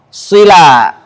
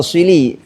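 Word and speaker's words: صلى: Kemudian yang keempat waqaf shila. Nah, atau shili. Kalau Doktor Aiman bacanya shili. Kalau Syeikh Nawawi bacanya shila.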